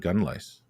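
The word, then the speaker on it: Ystradgynlais: pronounce yeah well it you've got to sound it out really because it's astrad with to the d and then gun lice and there is an ass at the end of that uh it's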